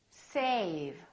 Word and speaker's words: save: more words now safe save notice how a was longer with the V then with the F let's repeat again safe